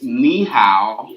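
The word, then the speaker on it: 你好: And to say hello, it's ni hao. Ni hao.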